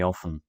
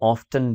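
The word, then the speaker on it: often: सो I catch cold very ऑफन। इस word को आप ऑफ्टन भी प्रोनाउंस कर सकते हैं, जो कि थोड़ा कम कॉमन है लेकिन करेक्ट है।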